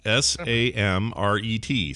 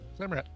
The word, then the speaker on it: Samret: It's spelled S-A-M-R-E-T. Samret. Samrat. Or Samret. There's no A. Sorry.